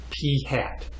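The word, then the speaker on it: p̂: sample means X bar we calculate sample proportions P hat so this symbol with the little little mark above it we pronounce that as P hat ok and again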